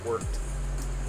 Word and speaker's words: wort: It's supposed to be pronounced wort.